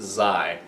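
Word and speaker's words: xi: It is Z-I, that's pronounced Zai.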